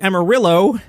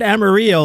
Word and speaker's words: Amarillo: Because it's pronounced like Zillow. Sounds like you might need to put a trip to Amarillo and a 72-ounce steak on your list for Travel is Back. Apparently, I said Amarillo last week, and I